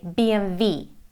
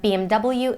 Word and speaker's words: BMW: English letters pretty simple BMW again it's a German brand and they say BMV but BMW in the you and Great Britain and now again a